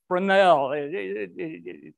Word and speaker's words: Fresnel: called fresnel zones f-r-e-s-n-e-l frenel it's not pronounced the way we'd spell it but uh from the